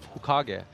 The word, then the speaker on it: Hokage: His own manager doesn't really know how to pronounce it, and I was telling him, "Well, it's Hokage. It's from Naruto. I know this."